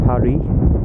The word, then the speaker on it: Paris: uh she's heading to Paris or Parry as the correct saying is for that um because it's a silent s for those of you who didn't know uh and the aircraft rge